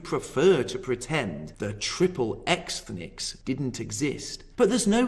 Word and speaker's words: Xthnics: The following is taken from an essay called Triple Xthnics, Jews in the American Porn Industry. And yes, I did pronounce that correctly.